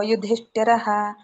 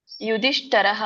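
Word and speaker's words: ಯುಧಿಷ್ಠಿರಃ: ಯುಧಿಷ್ಠಿರ ಅನ್ಬೇಕು ಮಾತಾಜಿ ಯುಧಿಷ್ಠರಹ ಅಂತ ಹೇಳಿದ್ರಿ ಯುಧಿಷ್ಠಿರಹ ಅಂತ ಬರಬೇಕು ಕುಂತಿಪುತ್ರ ಯುಧಿಷ್ಠರ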